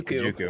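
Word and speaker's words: Ojukwu: It's the guy who I'm going to give it right back to you on mispronouncing names here. John Ajokwu. Excuse me. Ajokwu.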